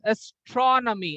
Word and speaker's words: astronomy: So there are 4 syllables. Astronomy. But the high pitch will go to astro. But from tro to me means astronomy. The last 3 syllables you have to speak at a one go.